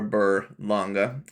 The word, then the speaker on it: Berlanga: Alvarez versus that of Edgar banga or banga however you want to pronounce his name but I'm going to go with Edgar bur longa for the rest of this video because that's the way that I heard it pronounced but of course for